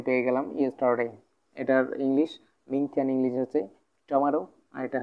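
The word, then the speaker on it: 明天: তারপর আমরা পাইতেছি কি, মিং থিয়ান, মিং মিং থিয়ান, মিং থিয়ান মানে হচ্ছে আগামীকাল, মিং থিয়ান মানে কি?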